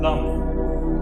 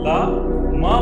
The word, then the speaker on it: लम: एंड द मंत्र फॉर मूलाधार चक्र इज लम। प्रोनाउंस कैसे होना चाहिए? ला मा बोल के जस्ट ड्रैग इट। कैसे? लम।